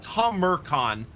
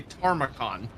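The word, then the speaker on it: Tamurkhan: or Taran something so it's it's Tom it's Tom meran tomon because my brain is stupid I like to say tacon which is not correct oh but I don't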